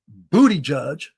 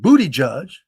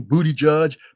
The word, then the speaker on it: Buttigieg: I know I mispronounced the name, but that's why I want to say it. Pete Buttigieg. And I don't listen, and I don't care what his orientation is. I'm not saying booty judge for that.